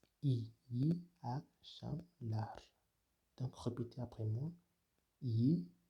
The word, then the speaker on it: iyi akşamlar: İyi akşamlar, qui signifie bonsoir. Cela se prononce de la sorte iyi akşamlar.